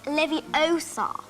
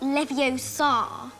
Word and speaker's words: Leviosa: You're saying it wrong. It's Leviosa. not Leviosa.